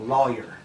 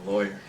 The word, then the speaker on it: lawyer: boy or flaw like rhymes with boy or rhymes with flaw oh lawyer so mhm okay I think I use those interchangeably no I always say lawyer boy how you I've